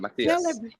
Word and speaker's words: Matias: How Yeah, do you it was pronounce your name? perfect. Okay. Yeah, Tell Matias.